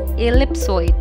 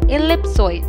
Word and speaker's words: ellipsoid: of three perpendicular axes it is often incorrectly pronounced as ellipsoid please remember the e will be pronounced as e and not a so the correct pronunciation of the world is ellipsoid now listen to the correct pronunciation of these